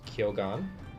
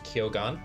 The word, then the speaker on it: Kyogan: Uh, Japanese is kyogan.